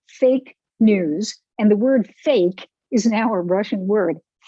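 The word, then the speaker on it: фейк: And the word fake is now a Russian word, fake. I'm pronouncing it correctly in Russian.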